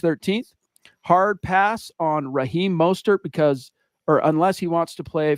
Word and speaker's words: Mostert: Is it Mostert or Mostert? Mostert. That's what I thought.